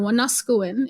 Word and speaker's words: Wanuskewin: is the valley where Wanuskewin, or Wanuskewin, if you say it properly in Cree, is situated.